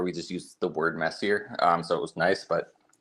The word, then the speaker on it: Messier: It's actually Messier, but everyone seems to call it Messier, which is fine because